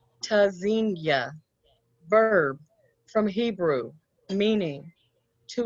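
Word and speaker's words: Tzynya: Pronounced tazinya, verb from Hebrew, meaning to listen for or hear. Spelled T-Z-Y-N-Y-A. The first letter T is a stop. Disrupts airflow.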